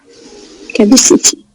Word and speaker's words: capacity: Capacity. Another opinion about this word. Welcome, Mr. Mustafa. Okay, not capacity. Okay, like capacity. Yeah, like this. So it's ka and schwa at the first syllable.